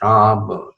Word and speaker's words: Ram: meditation on Ram, Bhagawan Ram. Now for Americans who don't know how to pronounce, it is Ram, like not Ram, is Ram, and R-A-A-M.